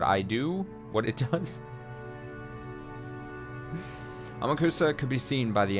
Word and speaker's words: Amakusa: I understand I'm saying it wrong when I say it like I'm saying it right now. I refuse to change. Again, I'm the pilot right now. I'm gonna say Amakusa. I know it's more probably closer to Amakusa.